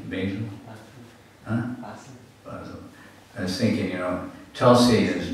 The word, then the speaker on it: Basel: Basel.